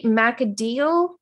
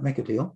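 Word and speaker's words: Machidiel: And then how do you say Macadiel? Yes, that's right. Make a deal.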